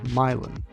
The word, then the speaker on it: Milan: So as it turns out, the town is actually pronounced Milan, and its origin is not really related to Milan.